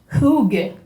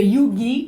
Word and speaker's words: hygge: Il y a au Danemark un art de vivre qui s'appelle le hygge, ou le yugi, ou yoga. C'est H-Y-G-G-E. Ils ne s'entendent pas sur comment le prononcer, mais je vous l'appelle.